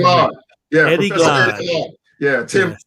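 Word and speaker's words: Glaude: Eddie Glotty? How do you say Glod.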